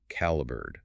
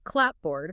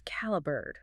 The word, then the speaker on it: clapboard: The spelling remained clapboard, but the tired workers compressed the pronunciation to caliber.